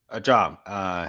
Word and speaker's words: Zhang: Zhang.